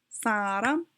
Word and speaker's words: 사람: Okay, so 사람, 사람 is like 2 syllables.